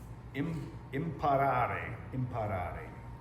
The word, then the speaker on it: imparare: Imparare, spelled I-M-P-A-R-A-R-E, to learn, which to me sounds very similar to the word impair.